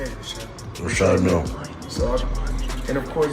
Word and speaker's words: Richard Mille: I like to call this Well, they people pronounce it different ways. Richard Mille is what my jeweler told me, so Exactly how you say it, yeah. Richard Mille.